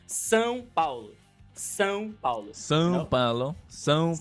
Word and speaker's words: São Paulo: But the state is São Paulo. São Paulo. São Paulo. São Paulo. Paulo. São Paulo, yes.